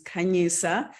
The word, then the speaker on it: Khanyisa: everybody my name is kanyisa that's how you say my name my friends call me